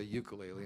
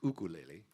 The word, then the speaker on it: ukulele: I used to say ukulele until my friend Mary Hall Leach hit me to the fact when she took up the instrument that it's pronounced ukulele.